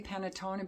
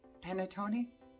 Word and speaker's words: panettone: panettone pinata i'm assuming i think with the romantic languages don't when there's an e at the end don't they pronounce the e so it wouldn't be panatona be penetoni i'm going with it so somebody from italy can always correct me this one i got